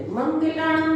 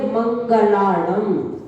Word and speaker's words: मंगलाणं: मंगलाणम च, मंगलाणम नहीं, मंगलाणम में तो गा में छोटी की मात्रा हो जाती है। गा में छोटी ई नहीं है, छोटा आ है, इसलिए इसका उच्चारण करेंगे मंगलाणम।